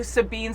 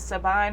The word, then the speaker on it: Sabine: videos I was like, I think her name's Sabine or Sabine, but I think it's pronounced Sabine.